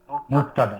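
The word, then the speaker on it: مبتدأ: করতে হবে, মুবতাদা, মুবতাদা, এই যে মুব, এই যে তাদা, মিম পেশ মু, বায়ের উপরে জজম, তাদা, মুবতাদা।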